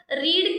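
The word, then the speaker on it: read: इसको जो है प्रोनंसिएशन में रेड बोलते हैं। बट स्पेलिंग तो आर इ ए डी ही होती है।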